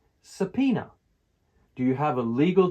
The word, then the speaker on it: subpoena: Pronunciation, subpoena, with the stress on the middle syllable, subpoena.